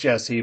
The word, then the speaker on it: Jesse: It's Jess with an E, but everyone calls me Jess, so it's okay. I see. So it is Jesse. It is Jesse, pronounced Jesse, but it's everyone calls you Jess for short.